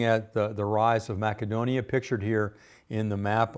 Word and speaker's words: Macedonia: the rise of Macedonia now most of us pronounce it Macedonia but uh I found that when I was in Greece that they pronounced the Seas with a hard sea so it's Macedonia in fact I've discovered that not only in